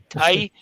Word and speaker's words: Ty: Is it Ty, T-Y? Yes. Is that the correct pronunciation? That's correct.